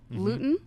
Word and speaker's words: Luton: Luton is how you pronounce it.